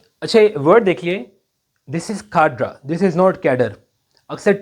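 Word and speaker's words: cadre: This is खाड्रा।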